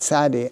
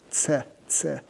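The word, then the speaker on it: צדי: And this is like a ts sound sadi. Sadi. Right. Zion is like a z. Sadi is like t sadi. Sadi. Sadi. Right. Zion Z Sadi TS.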